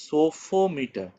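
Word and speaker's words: psophometer: হচ্ছে ইন্সট্রুমেন্টটার নাম হচ্ছে সোফোমিটার পিটা সাইলেন্ট থাকে ঠিক আছে সোফোমিটার এটা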